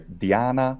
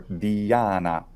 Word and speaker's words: Diana: say the name and in Latin there's two pronunciations there's either Diana or Diana the difference is that the letter i is either short or long or correct both are used in